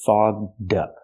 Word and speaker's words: fogged up: and ball fog foged we have to use the voiced GG sound fog plus the voiced D sound fog up link The Sounds her glasses get fog dup fog upup be careful